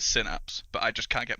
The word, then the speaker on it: Synapse: American English but because the bulk of our audience is in the US the official brand pronunciation is synapse but I just can't